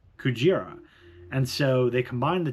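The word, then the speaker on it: クジラ: The reason being that gorilla is pronounced Gorira and whale is Kujira.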